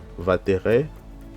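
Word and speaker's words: וַתֵּרֶא: Donc on a le va ici, on a le pata, donc ça se lit va terre Vatere, ok.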